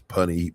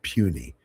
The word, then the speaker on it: puny: I said, "These punny mortals." It was a Thor comic book and she said, "These what?" I said, "Punny mortals." She said, "Show me." I showed her. She said, "That's pronounced puny."